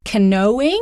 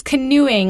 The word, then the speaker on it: canoeing: Yeah, it looks like it would be pronounced like canoeing, right? Or something like that. But no, it's canoeing, like ooh, with a ooh sound.